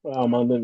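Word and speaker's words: Smael Mondon Jr.: Smile Mondon Jr. Munden, yeah.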